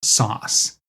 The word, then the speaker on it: SOS: The more slick offering was SOS, internally pronounced as sauce. You know, apple sauce, a little bit of a joke.